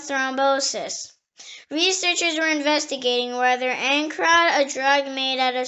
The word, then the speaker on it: ancrod: The next word is ancrod. Ancrod. It is spelled A-N-C-R-O-D.